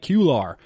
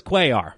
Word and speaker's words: Cuellar: Blue for the Athletics I think I said Vida in past episodes but Vida blue he'll go against Mike Cuellar so this was a battle of the mispronunciations for myself in past episodes Vida Blue vs Mike cular well it's Cuellar so thank you to the listeners out there who interacted with the show online on social media helped me out with the correct pronunciation there so we got game